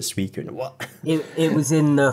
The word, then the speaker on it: Suicune: Yeah, I used to call it Sushin until it was in one of the programs or something, and they called it Suicune.